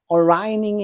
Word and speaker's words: aligning: aligning 이 핵심이에요. aligning 뭐예요? 초등학교 때 앞으로 나란히죠? 나란히 정리하다. 이것만 알아서 이거 미친놈이야. 이거 시험에 안 나와요. 나란히 정리하다. 조정하다가 나와요. adjust, alright. G 묵음이에요. 읽지 말아요. alright.